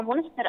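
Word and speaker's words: Münster: هو حضرتك نطقته مظبوط، هو مونستر آه، بس أنا حاليا في جامعة كولون.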